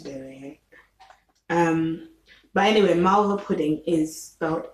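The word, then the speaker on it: malva pudding: gonna have to do it um but anyway marvel pudding is about m a l v a and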